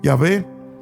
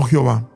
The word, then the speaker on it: Yahvé: están de acuerdo que la manera original y primitiva de pronunciar el nombre de Dios debía debía haber sido Yahvé y no Jehová.